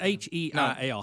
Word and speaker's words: Heil: Heil. Let's go back to Bob Heil. It's H-E-I-L.